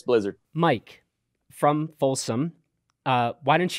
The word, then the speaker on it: Blizzard: Is it Blizzard or, you know, my preferred way, Blizzard? Depends on what country you're from, but it's Blizzard.